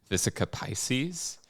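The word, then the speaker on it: vesica piscis: It's the I believe how you say it is the visica Pisces.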